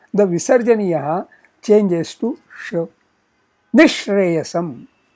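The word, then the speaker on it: निःश्रेयसम्: Nishreyasam, Nishreyasam. Note, here the visarjaniya stays, but its pronunciation is more like the sh next to it.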